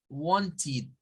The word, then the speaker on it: wanted: Si le agregamos la ed, vamos a obtener this one, but the pronunciation is wanted, like to say in the pronunciation, wanted. Why? Because it is and it's ending with letter T.